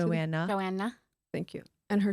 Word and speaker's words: Joanna: Chip and Joanne's Chip and Joanne, is that how you say it? Joanna.